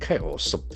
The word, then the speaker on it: chaos: Chaos. So the letter ch will contribute towards C sound. Chaos. There are two syllables. Chaos. Chaos. Action force on the first syllable.